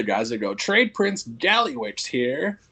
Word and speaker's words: GalliwYGO: It's just GalliwYGO. Yeah, so it's just like Galley.